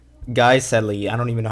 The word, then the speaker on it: Guiseley: I was right all along. It's pronounced Guiseley.